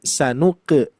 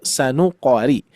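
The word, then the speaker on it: سنقرئك: Maka dari itu di sini sering terjadi sanuk ya harusnya sanuqori.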